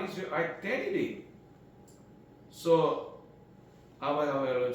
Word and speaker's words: Yahweh: So Yahweh is the name of God of Israel, representing the biblical pronunciation.